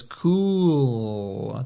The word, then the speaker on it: cool: Cool. Tem esse L no final. Tá? E o L de verdade, tá? O dark L do inglês.